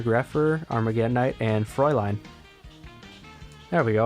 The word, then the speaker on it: Fraulein: arm again tonight and froy line there we go I said it right this time I don't know why I said Fraulein last time this Froy line I don't have to